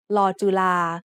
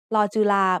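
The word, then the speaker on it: ฬ จุฬา: As an initial consonant, Law Jula makes the sound of the letter L just like Law Ling, and it would make the sound of the letter N as a final consonant.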